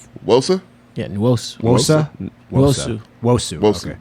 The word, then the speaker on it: Nwosu: Yeah, Nwosu. Wosa? Wosu. Wosu. Wosu. Okay. You don't say the N? No, you do, but it's like Wosu. Nwosu.